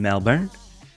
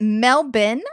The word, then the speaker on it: Melbourne: I'm in Melbourne now is it melbin or is it Melbourne because I hear Australians say melben and people from the UK seem to say Melbourne and Americans say Melbourne but I only hear Australians say melbin Melbourne I think that's